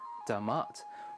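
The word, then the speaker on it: D'mt: During some time around the 8th to 7th centuries BC, the kingdom of Demat, calm down Joe Rogan, I know it looks like DMT, but it's pronounced Damat, was formed in the northern Tigray region of Ethiopia.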